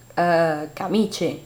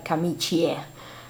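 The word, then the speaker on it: camicie: Van az i, de a kiejtés mindig az ugyanaz, mert én mondok kamicse, not, nem kamicsie. Az nem jó, az nem helyes.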